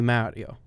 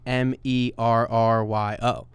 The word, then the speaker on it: Mario: So we're the clip we put out where I talk about the Mario characters, and everyone is just commenting that I pronounced it wrong.